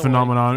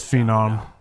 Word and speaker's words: Phenom: No, it's not phenomenon. It's phenom.